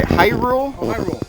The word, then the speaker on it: Hyrule: rule how do you say that they say Hyrule Hyrule sword Hyrule but it's in here we